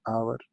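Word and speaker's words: hour: एन आवर, an year, इसमें भी H year में या आवर में साइलेंट है।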